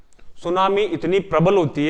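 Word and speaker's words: tsunami: हो अंग्रेजी में सुनामी सुनामी का स्पेलिंग क्या होगी कहां से स्टार्ट होगी सुनामी नहीं होती है टी से स्टार्ट होती है सुनामी टी साइलेंट होता है इस अंद सुनामी जो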